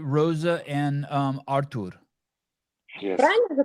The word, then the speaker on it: Artur: But the H is silent. It's not Arthur, it's Artur.